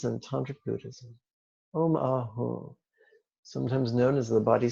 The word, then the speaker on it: Ah: Remember, that's a soft A.